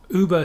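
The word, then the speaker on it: über: super or whatever like that in english but pronounced uber of course or strictly speaking in most regions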